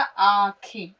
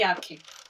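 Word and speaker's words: آنکھیں: बिंदी की आवाज है तो नून का नुक्ता जरूर लगेगा पर आवाज जो है वो निकलेगी अं की बिंदी की नून गुन्ना की आवाज अलिफ म ज़बर आ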